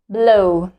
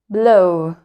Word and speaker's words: blow: where W okay and the same W is silent here and we just pronounced the first vowel blow blow blow the news is